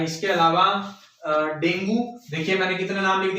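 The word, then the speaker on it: dengue: ठीक है, डेंगू या डेंगी बोलते हैं वैसे इसको, इसका एप्रोप्रिएट प्रोनाउंसिएशन जो है वो डेंगी है।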